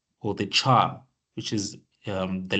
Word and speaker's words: char: that's why C++ is the data type called Char which stores the which tells that this variable